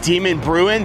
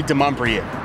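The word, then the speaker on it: Demonbreun: You may be on Google Maps and it pronounces it Demon Bruin, but it's actually de Mumbrien.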